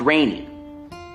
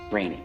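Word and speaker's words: Rene: tour yes uh g-a-g-n-o-n right pronounced rainy rainy yes okay i i actually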